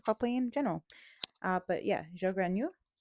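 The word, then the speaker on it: Zhou Guanyu: But yeah, Joganu. Sounds French when you say it. It's not.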